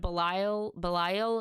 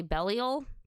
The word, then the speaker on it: Belial: But I have learned that, instead of Belial, it's actually Belial. So at least I know how to say it right.